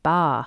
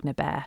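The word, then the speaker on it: Baa: But bear is the traditional way of pronouncing it. So when I speak monks, um, I would always say bear.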